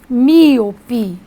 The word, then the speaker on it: míope: eu tenho a palavra míope a palavra milpi muito bem então eu tenho três sílabas uma trissílaba observem que a força está na anti-penúltima você não pronuncia míope